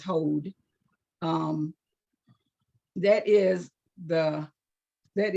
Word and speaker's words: Hod: be working in today which is called hold h-o-d I might be pronouncing it wrong but I believe it is hold um that is the